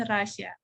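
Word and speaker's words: Россия: 3 bener Rasya Jadi kalau orang Rusia itu nulis nama negara mereka kayak gini bukan kayak kita tapi Rossi Ya tapi tadi bener ya pokoknya nggak ada garisnya jadi dia dibacanya bukan Kroasia Bukan tapi Rasya Ih pinter cepet ini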